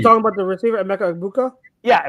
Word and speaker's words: Egbuka: You're talking about the receiver, Emeka Egbuka? Yeah, Mbuka.